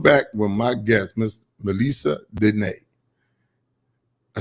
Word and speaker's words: Melessa Denee: Okay, welcome back with my guest, Miss Melessa Denee.